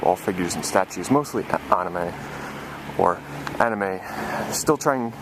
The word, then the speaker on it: anime: It's 5 floors of all figures and statues, mostly anime. Still trying... The correct way to say it is anime, but us Americans, we love to say anime. It's just a bad habit.